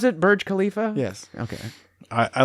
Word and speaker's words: Burj Khalifa: Is that how you pronounce it? Burj Khalifa?